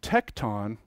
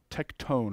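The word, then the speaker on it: tekton: behind it and then tecton or tectone is actually how it's pronounced what it what it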